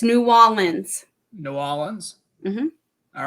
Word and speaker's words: New Orleans: ask you a question is it New Orleans or nollans and neither its new almonds New Orleans mm-hmm all